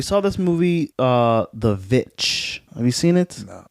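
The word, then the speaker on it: VVitch: this movie uh the vitch have you seen it no it's like every time I talk about it they say it's the witch but it's spelled vvi t c h i don't think I've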